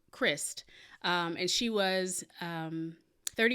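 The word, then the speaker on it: Kryst: about um miss shalise i think her last name is pronounced christ and she was um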